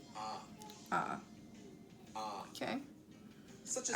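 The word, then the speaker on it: ㅏ: letter is pronounced ah.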